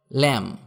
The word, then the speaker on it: lamb: যেমন ল্যাম, LAMB, এখানে বি এর উচ্চারণ হবে না।